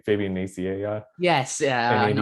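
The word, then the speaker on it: Nicieza: And so it's Oh, 32 is I think Fabian, I always forget how to say his name, Fabian Naciea, yes, yeah, and I Andy know.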